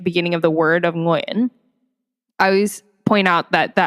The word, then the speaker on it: Nguyễn: Well, there's only one Vietnamese way to pronounce it, but I hear different ways that people pronounce it. There's Nagayan, Nguyen, Nguyen. Nguyen. Nguyen. Not yet. Sorry. But yes, I would say Nguyen is the most like